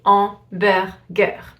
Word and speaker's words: hamburger: So it's like if the word was starting with the A instead of a H. You don't pronounce the H at all. You say hamburger.